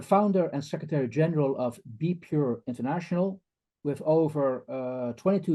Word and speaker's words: BPUR: use of religion and we prefer to pronounce it as be pure this is a I